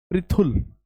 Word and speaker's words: पृथुल: शब्द है पृथुल, इसे आप प्रथुल ना पढ़ें। देखो ये है प्रे और इसका उच्चारण होगा प्री, थोड़ा जल्दी पढ़ेंगे इसे, प्री। तो शब्द है पृथुल।